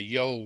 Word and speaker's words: yawl: Trondheim Yole, which is spelt Y-A-W-L. And this is part of the linguistic problem, because actual fact it's a Yole really, but because of the Irish dialect, it sounds much more like Yole.